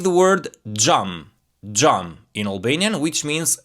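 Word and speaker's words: xham: On the other hand, X plus H, this one you're going to pronounce it this way. J, J, J, J. Like the word jam, jam in Albanian, which means glass.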